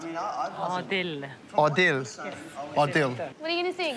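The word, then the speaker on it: Adil: Mum, how is it pronounced? Odil.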